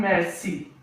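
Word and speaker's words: merci: C we use in mercy.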